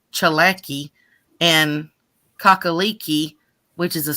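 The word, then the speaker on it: Tsalagi: is a blend of Cherokee and Scottish words selecki oh I'm sorry because it's it's pronounced chalaki and kakaliki which is a Scottish soup hey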